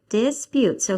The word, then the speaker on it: dispute: And can you find which syllable is the accent on? Second. The second. Okay, so let's try to sound out the first syllable. Dis. Putes. That's right. Dispute. So how shall we say it? Disputes. Disputes or disputes? Disputes. Ah, yes, on the last one, disputes. Yes, it's on the last syllable.